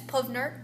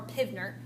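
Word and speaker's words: PV = nRT: You'll hear it pronounced often as Puvnert or Pivnert. I usually say Puvnert.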